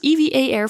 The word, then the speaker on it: EVA Air: Also, fun fact, we only learned it's pronounced EVA Air on board the plane as all this time we thought it was called Eva Air instead.